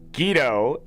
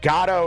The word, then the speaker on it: Godot: It's pronounced Guido for some. There's no dot to it at all? Oh, it's from... Okay, this is making more sense to me now. Like Bardo? Yeah. Gatto. That's... Gatto is how British people pronounce it, I guess.